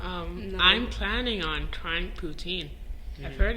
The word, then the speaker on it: poutine: from Montreal so I was just raised on puts in thank you oh I did that again am I pronouncing it wrong yeah you are you would